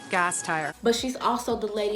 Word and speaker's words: Gasteyer: And then it's just the automotive parts. Just think about a car. Gas and a tire, and that's what makes the car go. So then you just put it all together. Anna GASTEYER.